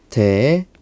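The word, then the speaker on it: δέησις: 데에시스. 데에시스라고 우리가 발음을 할 수 있는데 이 단어의 본 뜻은 어떤 거냐면은 자, 깊숙한 곳에서부터 나오는 개인적인 필요입니다.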